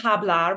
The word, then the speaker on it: hablar: We know that this h is silent. So, you're only going to be hearing an ah sound to start each of these words, right?